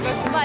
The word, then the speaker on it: 줌바: 줌마 인스트럭터. 우리나라에서 줌바가 발음이 아줌마의 줌마로 생각해서 아줌마들이 추는 춤이 아닌가 이렇게들 오해를 많이 하고 계세요. 아니 그러면 줌마 그러니까 이게 아줌마 댄스예요? 근데 줌바래요, 줌바. 줌바.